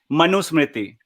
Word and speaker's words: Manusmriti: It is Manusmriti.